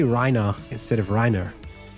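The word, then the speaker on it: Reiner: do all the voices, they pronounce Rhina's name Rhina with an a or an ah at the end. Rhina, which is accurate to the way that somebody might pronounce it in Germany, but it's not accurate to how you would pronounce it in English cuz it's an e r rher.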